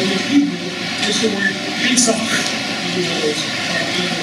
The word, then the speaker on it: Pesach: By the way, the word Passover in Hebrew is the word Pesach. You know those are good singing sounds. Let's try it. Pesach. Passover. There you go. The word Seder, I guess in English it's spelled typically S-E-D-E-R.